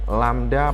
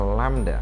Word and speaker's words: lambda: Dalam persamaan dituliskan V sama dengan lambda per T. Saya ulang, ini membacanya adalah lambda. Nah, ini simbol ini jangan lupa bacanya adalah lambda.